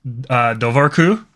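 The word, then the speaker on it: dobharchú: There is the name for otters in Irish is Dovarku. Spelled like that because Irish is a very fun language with lots of misleading spellings if you know English.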